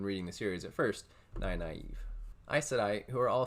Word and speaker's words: Nynaeve: This will be pronounced the way I pronounced her name when reading the series at first, Nynaeve.